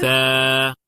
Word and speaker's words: ثا: তা, হ্যাঁ, তারপরে ثا. তা। এই সায়ে গিয়ে আমাদের একটা কনফিউশন হয়, আমাদের অনেকের এটা সা হয়ে যায়, সা। সা হবে না, কারণ কি এটার সময় আমাদের জিহ্বাটা বের হবে।